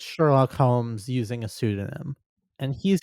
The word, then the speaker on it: Sherlock Holmes: You know this- it's pronounced Airlock Sholmes, right? No, it's not. It's Sherlock Holmes.